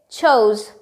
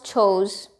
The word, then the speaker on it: chose: How do you pronounce it? It's chose. House chose.